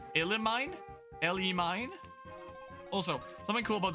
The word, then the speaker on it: Elimine: The mean is pronounced like mine. Elimine?